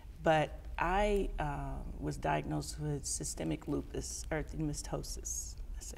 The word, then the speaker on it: systemic lupus erythematosus: I already had two kids, but I was diagnosed with systemic lupus erythematosus.